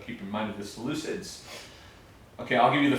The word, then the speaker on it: Seleucids: the first one is the Seleucians. Seleucids, thank you. Seleucids. Yes? And that specific kingdom is gonna be very, very impactful in chapter 8, so keep in mind of the Seleucids.